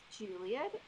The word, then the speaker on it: Julieth: side perfect so I'm Juliet and if you see an H is silent so I'm originally from Colombia and we speak Spanish and as hes are silent so my name is Juliet har a little bit